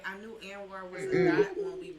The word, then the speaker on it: Anwar: My name is actually pronounced Anwar, right?